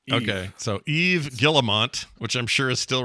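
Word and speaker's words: Yves Guillemot: don't know well uh Yves guillemont or have you say his name yeah I'm pretty sure you nailed it Scott yeah the S is silent in French okay so Eve gillemont which I'm sure is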